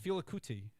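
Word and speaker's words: Fela Kuti: ll cool j yeah feel a cootie is how you pronounce it felix yeah yeah from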